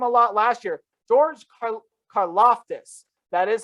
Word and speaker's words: Karlaftis: wasn't heard from a lot last year george carloftus that is how you say that last name